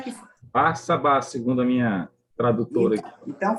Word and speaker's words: Barsabás: Como é que pronuncia esse nome correto? Tem Barsabás ou Barsabás? Como é que... Barsabás, segundo a minha tradutora.